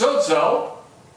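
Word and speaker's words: σώζω: The word save in Greek is pronounced sozo, and it means to rescue from perilous danger.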